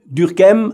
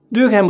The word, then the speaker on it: Durkheim: Durkheim, I try to pronounce his name the French way, but maybe I will forget it later and give it a more German sound.